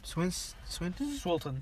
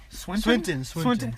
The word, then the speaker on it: Swinton: Swilton. Yeah. Swilton? Swinton.